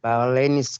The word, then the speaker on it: Bauleni: From Boleni. Bauleni. Brilliant. Bauleni, special school. Yeah, it's pronounced as Bauleni Special School.